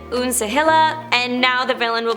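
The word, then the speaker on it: Uncegila: up has been different it's spelled u n c e g i l a I'm going to say it unila and now the villain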